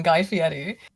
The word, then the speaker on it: Guy Fieri: Excuse me, I pronounced it wrong. Guy Fieri.